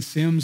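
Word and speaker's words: Semmes: can read it backward I used to live in Sims Alabama s-e-m-m-e-s you can spell it either way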